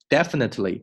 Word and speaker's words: definitely: 这个单词我们要读得慢的话是 definitely，但是你口语读得比较快的时候呢 you will definitely OK definitely 我没有读成 definitely，这个 t 呢是 definitely，这个 t 做出口型，紧接着后面这个 ly 这个 ly 连得非常快 definitely you will definitely find something you are interested in.